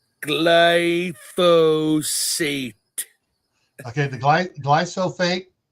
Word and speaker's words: glyphosate: Roundup the go ahead Mark say it proper pronunciation glyphosate okay the gly gly soate no gate glyphosate s okay um is there are several studies